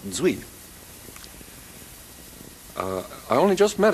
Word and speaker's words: Duy: extraordinary musician named Fami spelled duy but I Cordon I'm told pronounced zi uh I only just